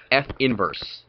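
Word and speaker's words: f⁻¹: negative 1 is pronounced f inverse that is f inverse you don't say f to the negative 1 in math there is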